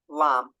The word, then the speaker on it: lamb: they are always silent so the silent B so examples Crum lamb also comb there is a b at the end but we never hear it so that again they're